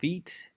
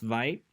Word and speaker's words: Vite: It's not pronounced Vite. It's Vite in French, and it means rapid, quickly.